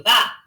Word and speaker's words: vas: Tu vas. That S is silent. Répétez, tu vas.